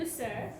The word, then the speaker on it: Flusser: Willem Foster, did I pronounce correctly? Flusser, I think. Flusser.